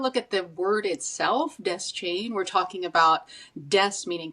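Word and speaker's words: Deschain: So, people fight about this all the time, but Stephen King pronounces it desk chain.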